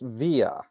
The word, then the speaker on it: Viy: So V it's actually pronounced Via, V apparently, according V.